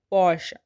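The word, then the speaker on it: Porsche: इसे हम कहते हैं पॉर्श।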